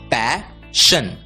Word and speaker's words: passion: SION की आवाज होती है शन और इसलिए PASSION का उच्चारण होगा पैशन, पैशन।